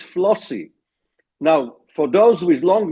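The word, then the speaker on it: FLOSY: And there is an acronym which rhymes with proxy and would only come up now in trivia contests, and that is FLOSSY.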